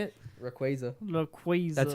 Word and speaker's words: Rayquaza: guys but how do you say it Rayquaza Rayquaza that's how you say it raquaza raquaza yo